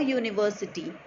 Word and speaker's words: university: sound of vowel U, it is the sound of consonant Y and therefore we are going to use A before university.